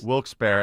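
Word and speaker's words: Wilkes-Barre: Uh I'm not going to pronounce it Wilksberry as we were told. Henry, your pronunciation was Wils Bear and someone called in earlier and told Kirk that I had the right pronunciation.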